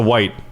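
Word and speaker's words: wight: at this zombies eyes it's a white technically cuz they're White Walkers so they're white but it's spelled WI ght I know it's a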